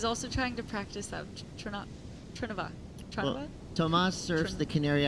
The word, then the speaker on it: Trnava: His hometown, a little hard to pronounce here because there's only 2 vowels, Trnava. Trnava? That's what I was thinking. I was also trying to practice that. Trnava.